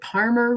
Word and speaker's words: Parmer: And remember, Parmer rhymes with farmer.